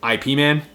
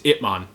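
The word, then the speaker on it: Ip Man: thing was laid out because i was always pronouncing them ipman it's ipmon not ipman but you know these came out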